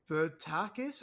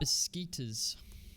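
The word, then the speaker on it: Beşiktaş: to pronounce this name, Bertakis or something like that? Beskitas. Beskitas, yes, that's correct.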